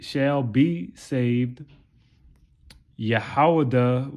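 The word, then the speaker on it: יהודה: said shall be saved yahawada which is how you say judah or ayuda which is the chief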